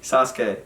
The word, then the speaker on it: Sasuke: Wait, how do you pronounce it? Sasuke.